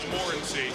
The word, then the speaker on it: Morency: Again, when he walked into our meeting yesterday, we asked, how do you say your name? He said Morency.